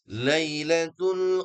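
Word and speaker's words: لَيْلَة: Ayat ketiga, lailatul qadri khairum min alfi syahr. Nah, di sini kita fokus identifikasinya. Lailatul qadri khairum. Nah, ada dua mad lin ya. Lai bukan la tapi i.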